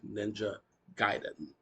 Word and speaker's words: Ninja Gaiden: Well, that movie got a lot of things wrong, but one thing it did get correct was the pronunciation of this game. It is actually Ninja Gaiden.